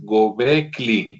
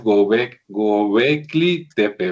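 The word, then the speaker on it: Göbekli Tepe: Sí, que por cierto mientras te acomodas, este, creo que lo pronuncié mal, parece que es Gobli, o sea, la L es después de la K, entonces parece que es Gobecli Tepe, ¿verdad?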